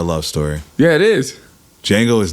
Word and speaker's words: Django: His idol, his hero, Django. Looking very Freeze. Yeah, you got him, buddy. The D is silent.